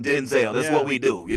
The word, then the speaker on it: Denzel: online, but he evidently his real pronunciation of the name is Denzel, but we just want to call him Denzel.